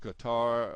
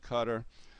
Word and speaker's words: Qatar: the country here is it looks like you would pronounce it Qatar a lot of people call it cutter uh e either one